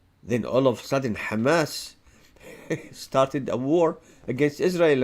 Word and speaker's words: Hamas: in the West Bank no Kamas this is how the Jews pronounce it Kamas there's no Hamas in the West Bank they killed still 250